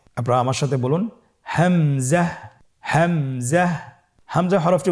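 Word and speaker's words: همزة: পরবর্তী হরফটির নাম হামজা। হামজা হরফটি উচ্চারণের ক্ষেত্রে বারিক করে উচ্চারণ করতে হবে এবং এখানে টেনে পড়া যাবে না। দ্রুত পড়তে হবে। আপনারা আমার সাথে বলুন হামজা হামজাহ।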